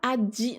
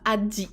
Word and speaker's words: aji: Aji, ça se prononce aji. Non, il n'y a pas... Le J, en fonction des mots, il peut se prononcer ji ou ji. avec ou sans D en fait. Mais pour un japonais, c'est la même chose. Donc là, les japonais vont plutôt le prononcer Aji, sans le D. Ce sera pas Adi, c'est bizarre.